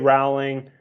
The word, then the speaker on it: Rowling: Avengers Iron Man's man Steve Jobs obviously JK rowling right I guess it's pronounced Rowling I just found that out shigeru